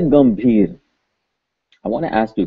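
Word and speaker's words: गंभीर: So we look it up in the dictionary, and this is indeed a M sound. So this would be pronounced Gambhir.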